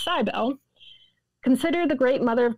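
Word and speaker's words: Cybele: cbel which I had realized recently I was pronouncing wrong I was saying civil but it's cybel consider the great mother of gods and associate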